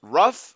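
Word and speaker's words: ruffe: check Google it said it's pronounced rough no e heard in the word so rough I sound like I'm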